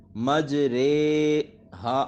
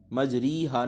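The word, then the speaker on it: مجریہا: کو امالہ کہتے ہیں۔ امالے کی را کو اردو کے لفظ قطرے کی را کی طرح پڑھیں، یعنی ری نہیں پڑھنا بلکہ رے پڑھنا ہے، اور اس کے ہجے اس طرح کریں گے، میم جیم زبر مج، را امالے والی رے، مج رے، ہا الف زبر ہا، مج رے ہا، مجری ہا نہیں اس کو پڑھنا، ٹھیک ہے، مج رے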